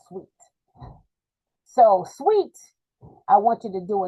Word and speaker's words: Sweatt: I think it's pronounced Sweet.